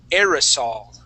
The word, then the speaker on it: aerosol: but the word is aerosol aerosol one more time aerosol like an a aerosol yeah uh it's going to be air like like the word a i r air aerosol aerosol aerosol a